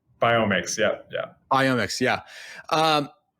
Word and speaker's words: FitBiomics: fit biomix biomix am i saying it right biomix yeah yeah ionics yeah um i was so